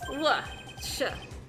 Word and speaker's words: Worcestershire: Worcestershire. It's actually got a bit of a T sound in it.